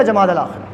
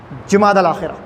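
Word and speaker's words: جمادی الآخرہ: جمادی الاولیٰ جمادی الثانیہ یا جمادی الاخر. جبکہ صحیح تلفظ، صحیح پروننسیشن کیا ہے؟ جیم پر پیش، جمادی الاولیٰ جمادی الاخرہ.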